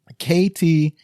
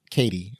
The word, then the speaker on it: KT: KT. And it's the letter K, the letter T, not Katie.